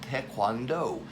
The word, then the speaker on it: taekwondo: here with this character this is the vowel sound for a long o where do we see that very commonly in the word note again the long o sound taekwondo now we know communally